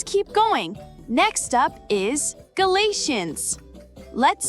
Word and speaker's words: Galatians: Next up is Galatians. Let's spell it together. G-A-L-A-T-I-A-N-S.